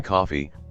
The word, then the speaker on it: Coffey: This is John Coffey, like the drink, only not spelled the same, and he has been convicted of molesting and killing 2 little white girls.